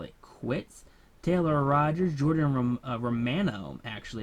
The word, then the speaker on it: Romano: Taylor Rogers, Jordan Romano. Actually, it's not mono, it's Romano.